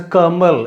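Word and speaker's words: कमल: pronunciation for this hindi word and which is pronounced as a kamal in hindi and the meaning of this word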